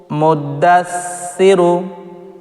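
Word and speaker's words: مُدَّثِّر: রু মুদ্দাসসিরু মুদ্দাসরু মুদ্দাসরু এখানে দেখুন সা এখানে কিন্তু সাটিকে পাতলা করে উচ্চারণ করবেন সা মুদ্দাসরু মুদ্দাসরু এখানে কিন্তু সা পড়লে ভুল হবে সা পড়া যাবে না খুবই পাতলা করে সা পড়তে হবে সা মুদ্দাসরু এভাবে আইন লাম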